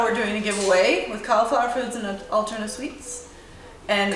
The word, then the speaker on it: Cauliflour: Next thing, tomorrow we're doing a giveaway with Cauliflour Foods and Alterna Sweets. And Cauliflour. yeah, cauliflower. Yeah, but it's spelled like Flour, right?